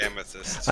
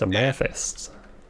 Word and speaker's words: amethyst: it yeah well uh growing up in Arkansas people are are really lazy on anunciation it's a math a math okay yeah I guess